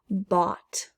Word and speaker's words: bought: hear that t fasten bot i bought something from the store that gh is silent brought i brought something